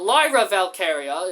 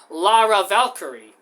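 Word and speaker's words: Lyra Valkyria: to to lra valkaria Lyra valkaria is how they say her name I keep calling her I kept calling her Lara Valkyrie like you know TAA Valkyrie so and she's only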